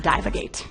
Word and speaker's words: divagate: in this photo it's really really small now divagate would be a great name for the beef between Nicki Minaj and cardi B but it's actually pronounced dive agates now meanwhile a menage are the members of